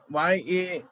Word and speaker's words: Yahweh: Otherwise, in pronunciation, there is no H. Where? While writing this word in English, YAHWEH we write. Na? So that is why that Yeah. H comes. Otherwise, it is only up to E, Yahweh.